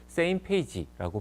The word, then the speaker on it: SMPAG: 조직을 바로 첫 번째는 smpag same 페이지라고 발음을 하는데요 각국의 우주청들의 국장들이나 대표들이